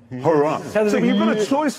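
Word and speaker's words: Huayra: The replacement for the Zonda is called the Hurrah. No, it's spelled H-U-A-Y-R-A, the Hurrah.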